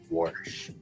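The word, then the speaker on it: Warsh: Worsh is considered to support the And guys, this isn't like the way that your grandfather who was born in the 1930s pronounces the word wash. This is just the guy's last name, Worsh.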